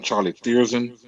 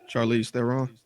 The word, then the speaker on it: Charlize Theron: one of them was I don't know how you pronounce her last name, Charlie Thiersen, I guess, who was in the Fast and Furious movies. With the short hair. Charlize Theron. Yeah, there we go.